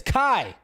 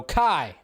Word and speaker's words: Kai: that his character's name in Rebel moon is Kai That's how you say it it's spelled Ki so Kai That's how you say his name and yes